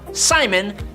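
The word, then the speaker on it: Psimon: All of that, but he basically just calls himself Simon, but cool because there's a silent P in front of it, so we all know that he has psychic powers.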